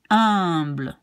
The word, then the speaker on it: humble: And this one you pronounce, you don't pronounce the H, so you will just pronounce humble.